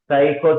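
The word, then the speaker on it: psycho: इलाहा साइको मोटा domain साइको जो है ना एस से एस से पी से पी से पी से जी हां बेटा पी से यहां पर पी साइलेंट साइको मोटा डोमेन हमारी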